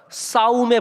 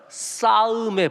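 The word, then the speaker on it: 쌓음: 자, 이거 발음이 중요합니다. 싸움의 법칙이 아니라 싸음의 법칙.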